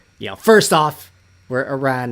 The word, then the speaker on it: Iran: pronounce it but Iran Iranian people want us to pronounce it Iran that's the way you pronounce it so it's a